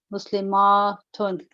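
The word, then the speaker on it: مسلمات: the t is open, Muslimatun. In pronunciation, the only difference between the singular and the plural is the shortness and the length of the a.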